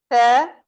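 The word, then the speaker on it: ث: Tha, that's pronounced only upper 2 front teeth. Okay. Tha, and you will notice that there is no whistling sound. Mostly people do mistake while pronouncing these letters, that they add the whistling sound in these letters.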